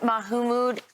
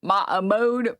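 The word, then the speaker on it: Mahmoud: She said the moment Mahumood got arrested, uh it Oh my god, the Fox News pronunciation. Maammode. Brian Kilm. Sorry. Ma mode. It's not that hard.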